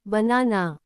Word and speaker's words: banana: Understanding stress is crucial for natural English pronunciation. 3. ఉదాహరణ banana.